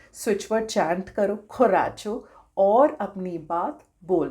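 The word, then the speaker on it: coraggio: Spelling आ जाएगी, बोलते इसे हैं खोराचो, खराचो। ठीक है, स्पेलिंग से लग रहा होगा कि ये खोराजियो होगा, बट प्रोनाउंस करते हैं खोराचो, खोराचो।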